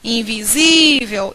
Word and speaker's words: invisível: Qual é a sílaba tônica de invisível invisível Isso aqui é uma paroxítona termina com l l